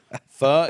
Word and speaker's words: pho: Pho is which by the way is spelled PHO, but don't say pho because you're going to look ignorant. People have taught me it's pho.